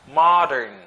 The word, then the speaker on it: modern: Modern. Ma. It's not mo. Okay?